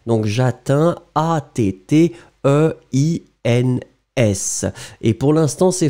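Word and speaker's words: j'atteins: Effectivement, le verbe atteindre, première personne, Pour le présent, eh bien, c'est Jatin, souvenez-vous. Hein. Il n'est pas très très complexe, mais en même temps, souvenez-vous que le D disparaît totalement. Donc, Jatin, A-T-T-E-I-N-S.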